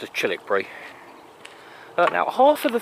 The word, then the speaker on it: Childwickbury: of chilbury now uh it's spelled childwickbury it's pronounced as chilik Bri uh now half of the things in chilik